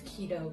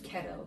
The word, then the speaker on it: keto: I'm glad that you pronounced it as keto because when I first heard of it I thought it was kettle I think so that's